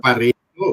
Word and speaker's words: Pareto: By the way, I think the pronunciation is Yeah. Pareto because it's Italian.